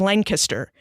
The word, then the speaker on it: Lancaster: a lot about Pennsylvania culture like the proper pronunciation of Lancaster is Lancaster that there are differences between hoagies and heroes